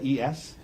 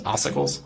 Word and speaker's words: ossicles: Okay, I guarantee I'm going to pronounce some medical words wrong, but ossicles, is that a word? I can't even pronounce it close enough for you to recognize it. Ossicles.